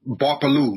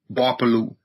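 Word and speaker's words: Gbarpolu: So my county is referred to as Barpolu, spelled with a G. The G is silent. G-B-A-R-P-O-L-U, Barpolu.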